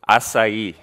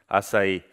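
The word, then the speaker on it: açaí: And for the brave ones, not you, Douglas, who knows how to pronounce it? Anyone? Close. Acai. Acai.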